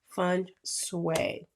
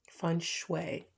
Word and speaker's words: feng shui: Clear the energy around you and use feng shui. Feng shui.